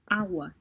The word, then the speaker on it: agua: agua, all right, so I'm not hearing the G, and it did mention that this sound of G, the soft G, occurs between two vowels, and which is right. So you have it is between A and U, right?